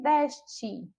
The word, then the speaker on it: deste: Agora nós vemos o verbo deste. Vem do verbo dar, está aí na segunda pessoa do singular. E quando a gente fala deste, nós percebemos aí a sílaba des como sílaba tônica.